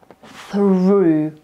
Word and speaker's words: through: To jest through. Through. Ok? Czyli pisze się dużo gorzej niż się wymawia.